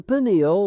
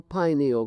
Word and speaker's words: pineal: Uh the pineal or pineal gland either pronunciation is correct located in the central path of the brain still remained the mystery gland of the human body.